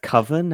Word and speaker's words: Coven: Um, so I mostly got to watch uh I believe it's pronounced coven as in Witches Coven.